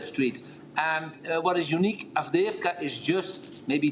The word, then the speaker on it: Avdiivka: How do you pronounce this city? Avdiivka. Avdiivka.